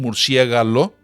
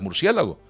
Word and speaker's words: murciélago: Y cuando toda la institución decide que aquello es un murciélago y no un murciégalo, que es como tendría que haber sido, que esa es la forma etimológica, pues tenemos que aceptar que lo correcto es murciélago.